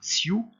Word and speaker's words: ciudades: j'ai mis en rouge trois lettres C-I-U de ciudades, parce que vous le savez maintenant, je le répète depuis l'année dernière, on a tendance à inverser le I et le U dans ce mot-là. Donc commencez par prononcer la première syllabe à part, ciudades, ensuite. Au départ avec une petite pause, et puis après vous accélérez. Ciudades, ciudades, ciudades.